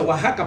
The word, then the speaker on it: Oaxaca: un lugar llamado y oaxaca positivo ataca pero se pronuncia oaxaca para nosotros ahí fue